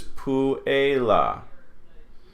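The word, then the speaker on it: puella: So UE is not a diphthong. So this is puela.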